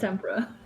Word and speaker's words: tempera: drinks it's the food it's tempera as in the tempera paint isn't it I know